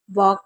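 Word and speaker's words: walk: कब साइलेंट होता है एल हमेशा जब साइलेंट होता है जब एल से पहले ए होता है ओ होता है या फिर यू होता है ध्यान से सुनिए अगर एल से पहले ए ओ यू होगा यानी कि इनमें से कोई एक होगा तो एल साइलेंट रहता है जैसे टॉक में आप देख रहे हैं एल से पहले ए है बॉक में ए है और पाम में भी ए है और जैसे आपको मैं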